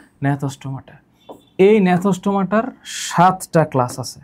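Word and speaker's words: Gnathostomata: এই উচ্চারণ তো আসলে বাংলা করলে হবে না। নথস্টমাটা এই নথস্টমাটার সাতটা ক্লাস আছে।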